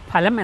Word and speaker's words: ഫലം: പലരും ഫലം എന്ന് പറയുന്നത് കേൾക്കാറുണ്ട് അങ്ങനെയാണോ അതിൻറെ ഉച്ചാരണം അല്ല ഫലം എന്നാണ് എന്നാൽ ഫാൻ ഫാൻ അല്ല